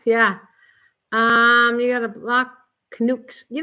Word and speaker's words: Canuck: You got a block Canucks.